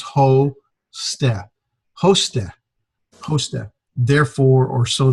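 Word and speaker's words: ὥστε: And here's a word, hosted, the last word of the vocabulary. We've got the rough breathing, so it's got the long O sound with an H in front of it, so it's ho-ste.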